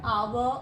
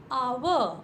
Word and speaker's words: hour: Like we talk about word hour or honest. In these two words, first letter H is silent.